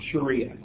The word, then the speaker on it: sharia: is the following of sharia you'll hear it pronounced a variety of ways especially in the west Sharia seems to be the one that is probably more the one chosen by uh Muslims is referred to as